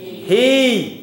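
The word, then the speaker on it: היא: Do we pronounce an aleph without a vowel? No. So what does that word say? He.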